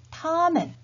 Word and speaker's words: 他们: 1인칭 我 우리들 我们 2인칭 你 너희들 你们 3인칭의 그 또는 그녀는 발음은 같다고 했죠? 타, 그 다음에 그들, 他们 이렇게 표현할 수가 있겠죠.